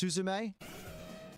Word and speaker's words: Suzume: It's pronounced Suzume.